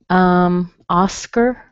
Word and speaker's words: Oscar: Oscar. In the word Oscar, O-S-C-A-R, you see an A-R spelling at the end. It doesn't matter. It's a schwa. We have a short O, which sounds like ah, Oscar, Oscar, Oscar.